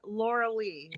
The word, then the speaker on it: Lorilei: name and you mean me my name is Laura Lee it's spelled very strange if you can't remember I